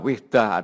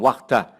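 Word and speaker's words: وحدة: Ini bacanya ada yang baca wihdah, ada yang wahdah, tapi saya terbiasa membaca wihdah.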